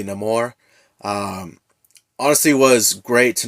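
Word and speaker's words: Namor: uh bringing in this character of Neymar uh or how they pronounce in the movie no more um honestly was great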